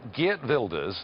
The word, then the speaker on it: Geert Wilders: four years ago that GE builders that is the right pronunciation by the way that gilders would